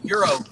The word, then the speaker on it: gyro: flexi pants was like no it's gyro like Gyros scope I'm like no it's Euro like Euro the currency like well kind of